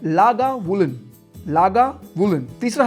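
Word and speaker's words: Lagavulin: एकदम प्रो की तरह प्रोनाउंस करने हैं आपने। पहला है आर्ट बेग। आर्ट बेग। दूसरा है लागा वूलन।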